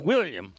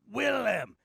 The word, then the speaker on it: Willem: a shortened version of william thank you very much no it's not william it's willam it's spelled with an em not an